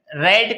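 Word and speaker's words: read: रेड का third form भी रेड होता है, उसका फर्स्ट फॉर्म क्या होता है? रीड। Second form रेड, third form भी होता है रेड, यानी प्रोनाउंसिएशन में डिफरेंस है।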